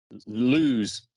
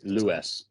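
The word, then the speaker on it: Lewes: so you mean lows lose people not from around this area call it lose it's spelled l-e-w-e-s it's louis lewis gotcha it's it's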